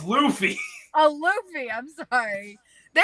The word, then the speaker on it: Luffy: the way that she pronounced that Luffy? one particular. Ugh. What is it supposed Luffy? to be? It's Luffy.